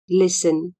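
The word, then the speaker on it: listen: एस टी ई एन लिसन स्मा T silent हुचा एल आई एस टी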